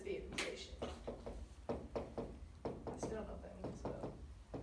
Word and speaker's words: Vietnamization: Actually, I was kind of an answer you said at the same time, but it's Vietnamization.